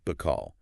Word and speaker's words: Bacall: Being a theater kid with big dreams, she added an extra L to the end of it so it would rhyme with locale.